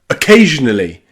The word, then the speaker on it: occasionally: We say it really quickly. Some people can't even hear it. Occasionally. Occasionally. Occasionally. Really quick at the beginning.